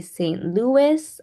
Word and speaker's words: St. Louis: And in this case, it would be St. Louis or Louis. So it could be pronounced either way with the S or without the S.